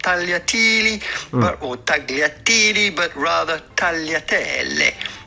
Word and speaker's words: tagliatelle: And then there are situations where the GL has two possible sounds depending on where you're from. And one of these cases being tagliatelle. But it's not that the G is mute and you pronounce the L.